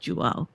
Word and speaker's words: Jiao: Looks like Jiao is through. J. J. His name is pronounced juo is through for the black there.